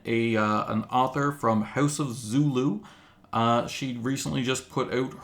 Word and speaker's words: Zolo: Oh, and I should just say it's House of Zolo. Oh man, I did it wrong. I asked how it was pronounced, and then I said it wrong. House of Zolo.